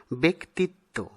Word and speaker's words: ব্যক্তিত্ব: আরেকটি হল ব্যক্তিত্ব, এই শব্দটিকে আমরা ব্যক্তিত্ব এরকম উচ্চারণ করে থাকি, কিন্তু ব্যাকরণ সিদ্ধ উচ্চারণ হবে ব্যক্তিত্ব।